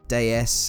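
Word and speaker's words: Déesse: a bit on the Citroen DS or Deus as its pronounced in French Deus means goddess so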